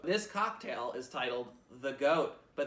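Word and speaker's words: GAOAT: This cocktail is titled The GOAT, but there's a silent A in it, so it's G-A-O-A-T. And if you're adverse to silent letters, it's GOAT!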